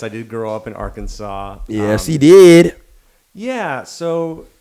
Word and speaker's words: Arkansas: know you're from a little place called uh Aransas correct correct me if I'm saying it wrong but Aransas ar oh Arkansas Arkansas Eric likes to act like I'm from